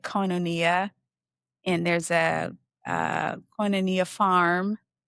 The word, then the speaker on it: Koinonia: It there's a many Anglicized pronunciations say it Koinonia, and there's a Koinonia